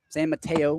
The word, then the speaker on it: San Mateo: San Mateo. I believe that's how you're supposed to pronounce it.